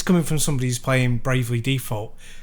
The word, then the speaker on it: Bravely Default: But the text-heavy bit, and this is coming from somebody who's playing Bravely Default, to use your pronunciation with the emphasis on the D, playing Bravely Default 2.